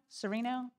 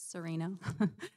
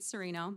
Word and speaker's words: Cerino: thank you carino sereno sorry if i mispronounced that i apologize it's serena uh good evening my name is cerino and i'd like to